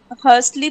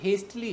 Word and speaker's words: hastily: Okay एक word एक connector sir इसको हर्स्टली प्रोनाउंस करेंगे. नहीं नहीं ये हेस्टली है हेस्ट हेस्टली.